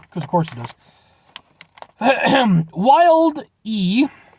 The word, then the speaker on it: Wilde: Wilde E, you put the E, so that's how I'm pronouncing it, is the first chip bold enough to create a delicious chip crafted from 100% all-natural chicken breast.